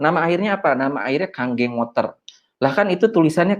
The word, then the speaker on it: Kangen: Makanya kalau orang yang belum tahu, belum lihat edukasinya, biasanya ngomongnya masih kangen. Jadi sebenarnya ini dibacanya adalah Kanggeng. Ya. Jadi kalau di Jepang itu, huruf N itu dibacanya jadi ang.